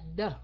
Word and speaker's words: the: Còn cái chữ này đó thì phải la lưỡi ra. Cắn lưỡi nhẹ nhẹ, thụt lưỡi vô đọc là the. The. Ok, phải la lưỡi mới được.